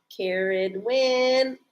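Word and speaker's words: Ceridwen: it right too you know they get the pronunciations in this book look Karen win I got it right I got the name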